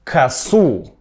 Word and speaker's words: ко́су: «Он взял косу́». Косу́, именно косу́. «Она заплела ко́су». В некоторых падежах ударение меняется. Обратите внимание. Он взял косу́, она заплела ко́су.